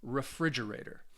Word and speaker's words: refrigerator: one gets the stress so refrigerator has five syllables and the stress is on the second syllable so now that we've